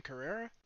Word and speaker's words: Carrera: Carrera? Yeah, like the car.